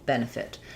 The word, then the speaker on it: benefit: So, first syllable stress here. Ben, fit. We have the e vowel in the first syllable and then either an i or an uh very reduced vowel in the second syllable and an ih in the second syllable, last syllable.